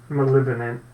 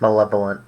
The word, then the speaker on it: malevolent: So, you know that like he's an interesting character, but he's he's not like malevant malevant. Malevolent.